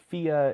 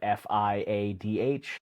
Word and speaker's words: Fiadh: this label before, but it's Fia is I want to say like a Gaelic word, but it's spelled Fiadh. I thought it was Fiad for the longest time. Turns out no, because Gaelic is like has even more bullshit spelling than French does.